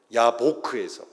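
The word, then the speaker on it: יַבֹּק: 야곱이 야복강에서 씨름을 했다라는 말 히브리어로 발음하면 야곱은 야코브입니다. 야보크에서, 야복강은 야보크에서, 싸우다니 야베크예요.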